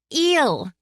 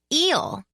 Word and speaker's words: Il: Il and Breck Darthia? I garbled out. Talk about a tongue twister. That's eel, Patty said without looking up from her textbook. Pronounced like eel.